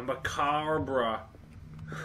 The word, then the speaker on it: macabre: A macabre. It's pronounced macabre.